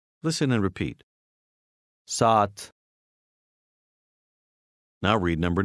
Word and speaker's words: saat: Number 8 has two A's side by side. They are pronounced with a very slight break between them. Listen and repeat. Saat.